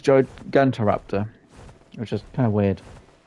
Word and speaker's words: Gigantoraptor: From what I know on the game mechanics for the Gigantoraptor, whatever you probably pronounce it as. Yeah. It's Gigantoraptor, which is kind of weird.